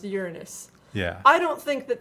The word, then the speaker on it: Uranus: science class we all used to giggle that Uranus and our teacher in a huff said that it's actually pronounced Uranus yeah I don't think that that makes it